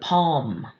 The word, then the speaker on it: palm: lm at the end of a word "palm" we don't hear that l.